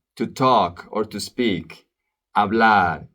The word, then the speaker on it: hablar: Hablar, the H is silent.